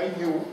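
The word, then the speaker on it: 湯: Tutte e due hanno lo stesso carattere giapponese, che si pronuncia yu e che significa acqua calda, sostanzialmente.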